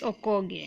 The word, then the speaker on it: Okogie: People call him Okogie, but it's Nigerian last name, and well, It's Okogie. you I being am 100% sure. African, you say it's Okogie. That's the right Okogie. way. That's the right way to okay.